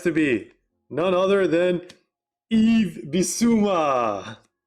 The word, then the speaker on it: Yves: It has to be none other than Yves Bissouma. 1 of 1 diamond. Congratulations, Nova. On a heater today. That was like the last thing I also expected. There we go. The S is silent, guys.